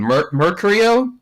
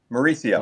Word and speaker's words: Mauricio: Uh you know I always mispronounce his name Mercurio Mauricio Mauricio is that guy is that guy for real?